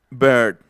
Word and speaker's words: bird: inglés, que es esta, que se pronuncia bird. Bird, third, shirt. Otra vez. Bird, third, shirt. No está tan difícil. Es como una E, pero más cerrada.